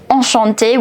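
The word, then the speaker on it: enchanté: exactly like O So e n and a n are to be pronounced the same now you have this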